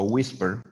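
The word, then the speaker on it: WSPR: muy interesante es el modo whisper whisky sierra papas radio se se pronuncia wister o susurro y su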